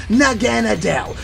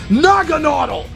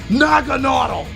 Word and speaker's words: Naganadel: It's not Naganadel. You pronounced it wrong on purpose. It's Nagonautle. Not Naganadel. Nagonautle.